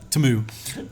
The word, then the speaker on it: Temu: Temu, and so I remember putting it up.